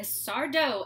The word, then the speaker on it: Sardo: but also because it's a Sardo episode no Mistah accent on the dough he's such a great